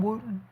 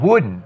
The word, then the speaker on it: Wooden: Are you talking about my John Wooten? The hoop the hooper coach, which Oh, John Wooden.